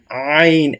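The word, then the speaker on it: عين: না তাকে বলবো আমরা আইন একদম হলকের শেষখান থেকে আইন আইন আইন আইন এবং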